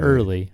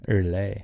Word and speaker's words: Earley: Not early. Earley.